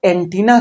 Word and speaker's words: antennae: ठीक उसी तरह से जो एंटीना शब्द है एंटीना का जो प्लुरल बनता है दो तरह से बनता है। एक ए लगा के जब ए लगा देते हैं तो उसका उच्चारण एंटनी हो जाता है।